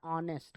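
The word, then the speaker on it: honest: आहे आर्टिकलची एरर आहे तर इथे पाहिजे अन ऑनेस्ट काय पाहिजे अन ऑनेस्ट ऑनेस्ट मिस्टेक कारण इच्या ऑनेस्ट शब्दाचा जो प्रोनन्सिएशन उच्चार आहे तो कसा आहे ऑनेस्ट ऑनेस्ट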